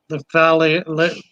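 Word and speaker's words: lifalili: Lephalili from Hemicromus lephalili. Yeah, Lephalili or Liphalili. Liphalili, double I at the end. Liphalili.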